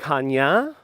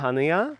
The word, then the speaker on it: Chania: a bit difference in where the accent Falls like Hanya rather than hania or hania I first pronounce it hania because that's how we're pronounce it in Spanish so sometimes it's like there's a different accent Hanya but otherwise it's very